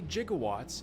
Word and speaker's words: gigawatt: WHEN writers Bob Gail and Robert Semechus were researching the film, their science consultant pronounced giga coming from the ancient Greek word for giant with a soft J.